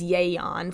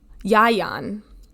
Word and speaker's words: Ieuan: The first one is Yayon. First of all, I'm watching this YouTube video that's like made with AI and it's so slow. I just had to put it on 1.25 speed. So the first option for pronunciation is Yayon. And the second one is, Yayan. So Yayon or Yayan.